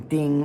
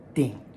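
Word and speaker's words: 釘: It is either first tone ding or fourth tone ding. It's a nail. Nails are metal. Yeah, I can't think of a non-metal nail. If it is the noun, a ding, it's first tone. But if you're hammering that nail, it's ding, which makes sense, right?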